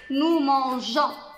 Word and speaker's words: mangeons: Nous, pour préserver le son J, on a inséré un E ici pour prononcer nous mangeons.